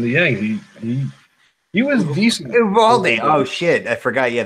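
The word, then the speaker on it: Eovaldi: Ubaldi. Oh, shit. I forgot. Yeah, there's no V sound in Spanish. V's are pronounced with B.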